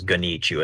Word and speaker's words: GoneChoo: question which of course that's how you pronounce it as ghanichu as and i'm gonna eat you you know the crazy